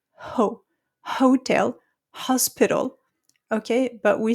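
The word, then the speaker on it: hôtel: So forget about the letter H. We don't pronounce it. Okay. So when you have hotel in English, we have hotel.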